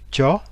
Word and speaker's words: cho: Et là, l'exemple que je prends, c'est le verbe cha, C-H, se prononce ch, cha, qui veut dire donner,